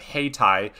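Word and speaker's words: Hayti: 55 here south of haitai it's not haiti i pronounced it wrong the first time and i was on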